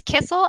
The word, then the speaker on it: Kisiel: It's Kisiel, and it always gets mispronounced, so please say it however however you see fit.